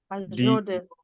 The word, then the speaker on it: Azure DevOps: AZUREDEVOPS. AZUREDOPS and the pronunciation and the spelling.